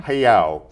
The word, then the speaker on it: Hayao: Is that how you pronounce his first name? Hayao. Hiyao.